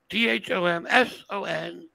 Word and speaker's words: Thomson: Dhomson. I do not spit when I say my name. No P.